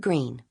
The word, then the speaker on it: Greene: My name is Green. That's Green with a silent e at the end.